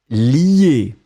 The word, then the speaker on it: lie: Donc on le prononce li, mais on va l'écrire L-I-E.